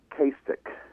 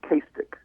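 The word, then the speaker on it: Cistach: out last night my wife and I it's castic c i s t a c h but it's castic and um we got a that's the GIC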